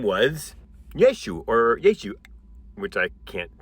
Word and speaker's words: Yeshu: It was pronounced Yeshu, or another way that I can't pronounce because there's this like weird stop thing that you do with your mouth that I, as an English speaker, have never figured out how to do.